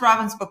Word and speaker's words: Ravensbrück: It's pronounced Robinsbrook by the Germans and that's the German I use the German pronunciation.